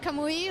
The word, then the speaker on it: Kamui: We're sitting here with Kamui Cosplay. You got it right. Perfect. Yeah. Thank you very much. Yeah. So we've been back and forth about the pronunciation, but I think it's inspired in Japanese.